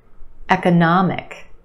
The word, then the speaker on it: economic: words try this one economic economic we've got four syllables the third syllable is your stressed syllable na the ah sound economic and we have a schwa in the second syllable eka eka economic benefit benefit three syllables